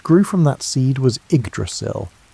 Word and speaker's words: Yggdrasil: What grew from that seed was Yggdrasil, pronounced I-G-druss-il, the world tree.